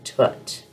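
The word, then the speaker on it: Thoth: I connect and um actually you pronounce his name tot and for me he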